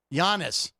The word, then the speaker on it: Giannis: Giannis. I didn't hard G it.